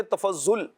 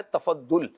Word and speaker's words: تفضل: تفضل کا معنی ہے، اگر اردو میں دیکھیں تفضل یا تفضل یا تفضل اس طرح کر کے پڑھا جاتا ہے، لیکن درست تلفظ اس کا ہے تفضل، تو اس کا معنی